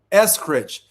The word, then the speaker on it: Eskridge: How do you pronounce Amy's last name? Eskridge.